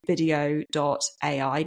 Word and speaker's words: Vidyo.ai: What I then do is I go across to VideoAI. Now, video is spelled a little bit weirdly here. It's VIDYO.ai.